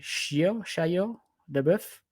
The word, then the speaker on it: Shia LaBeouf: Le fils de avec, je sais pas comment le prononcer, Shia LaBeouf?